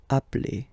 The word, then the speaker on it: appelle: You tend to pronounce it like really open.